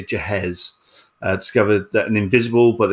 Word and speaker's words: Ghez: And then, as we talked about, Reinhard Genzel and Andrea, and I looked up how you pronounce Andrea's surname, but it's Ghez. I'll say Gehez.